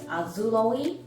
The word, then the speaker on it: Azulaoi: i do name them this one's name is azuloe and it's spelled a-z-u-l-a-o-i because the colors um the